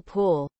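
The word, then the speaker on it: pwll: I just realized that in Welsh, W is actually pronounced like, well, a W. E.g. P-W-L-L pool.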